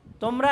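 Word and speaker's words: تاء: এবং নুক্তাগুলি কোথায় উপরে এটার উচ্চারণ কি হবে তা এটাও পাতলা উচ্চারণ হবে এটার উচ্চারণে কি হবে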